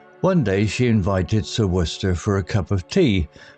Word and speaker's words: Worcester: The villagers found it peculiar how Sir Worcester's name was pronounced Worcester, a mystery in itself.